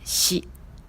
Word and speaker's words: 四: En onyomi, on lit comme shi.